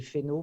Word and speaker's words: Fesneau: Il y a quelque chose qui me ferait plaisir, c'est que vous disiez Fesneau, parce qu'on ne prononce pas les S en centre Val-de-Loire.